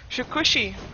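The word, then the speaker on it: Shukuchi: He has Shikushi.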